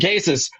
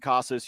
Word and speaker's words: Casas: So Triston Casas over a half a RBI against KC, plus 165 there, available at a DraftKings.